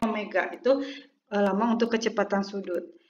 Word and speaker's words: omega: nah kita Tuliskan ini lambangnya Omega mirip wae ya tapi ini dibacanya Omega itu lama untuk kecepatan